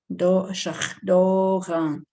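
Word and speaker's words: šaglóǧaŋ: Number 8 is shakdogan, shakdogan, shakdogan, shakdogan. So the S again is SH. Okay, so you could fix that for yourself too. Shakdogan. The N is nasalized.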